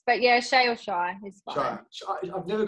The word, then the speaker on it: Chey: this controversy right now it kind of is shy like most people do call me shy for two years for